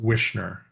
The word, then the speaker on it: Wichner: It's pronounced Wichner, Wichner. Hang on, let me write that down, guys. like SH. Craig Wichner.